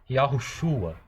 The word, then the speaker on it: Yahushua: Mas se você pronuncia de forma rápida, Yahushua, perceba que você quase não ouve esse O. A vogal que se destaca é esse A, ok?